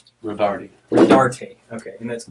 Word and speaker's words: Rodarte: information it's Le and tell me how you pronounced your last name rard RAR okay and that's r o d a